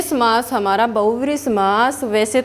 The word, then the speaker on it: बहुव्रीहि: ठीक है, इसके बाद हमारा समास आता है बहुव्रीहि समास। कौन सा समास होता है, बहुव्रीहि समास। बेटा ये बहुव्रीहि होता है। ठीक है, आप लोग उच्चारण में भी गलती करते हो, बहुव्रीहि बोलते हो, नहीं, बहुव्रीहि समास।